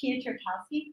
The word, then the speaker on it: Pietrkowski: Pietrkowski. Okay, is that how you spell it? Well, And- I say it the American way.